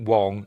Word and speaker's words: Wang: I'm going to pronounce it Wang. I know people pronounce it Wong and even Garrett Wang pronounces it Wong and it's his name so he should know.